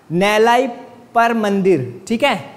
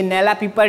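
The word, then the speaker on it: Nellaiappar: याद रखना है इसका, नैलाई पर मंदिर है, ये नैला पीपर नहीं है, क्योंकि हिंदी का इसका ट्रांसलेशन थोड़ा मिस्टेक है, ठीक है।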